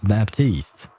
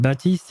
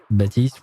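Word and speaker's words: Baptiste: highway killer known as Baptist I mean batist is a French name right so I can pronounce it with the French way batist we don't pronounce the p in French so who knows um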